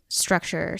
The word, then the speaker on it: Struxure: But the next big thing would be Structure, Central Virginia. Oh, Structure is spelled Struxure.